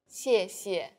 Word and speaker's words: 谢谢: The tone in the first syllable is the fourth falling tone. 谢. And the second syllable is the neutral tone. 谢. Altogether, 谢谢.